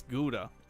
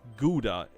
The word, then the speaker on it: gouda: It's gouda. I said god because it you have it pron you have